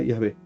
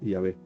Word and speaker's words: Yahvé: Si en el grafema IHBH intercalamos la primera vocal del tiempo pasado y la última del futuro, nos quedará Yahvé. Finalmente leemos Yahvé.